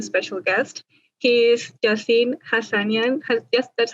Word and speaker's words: Hasanian: of this new special guest he is jasin hassanian yes that's how you pronounce it hassanian yeah yeah okay that's right who is the